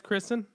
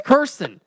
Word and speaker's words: Kirsten: apologize, Kristen. I didn't know your 4-year-old was listening. It's Kirsten. Oh my You guys god! always get her name wrong.